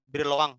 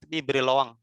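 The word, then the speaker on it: Brillouin: nanti ada yang namanya daerah briloang ini bukan diloin ya dibacanya diberi loang ini artinya orang perancis kalau nggak salah cek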